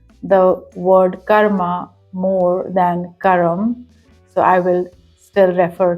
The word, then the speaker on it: karma: is karma or Karma as we actually call it in Hindi that's how it's pronounced correctly Karma but because I'm